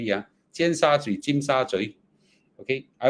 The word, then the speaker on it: Tsim Sha Tsui: Okay, did I even pronounce it correctly? Yeah, Tsim Sha Tsui, Tsim Sha Tsui.